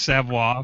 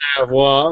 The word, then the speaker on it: Savoy: You gotta think Cajun when you say my name. It's Savoy, like French.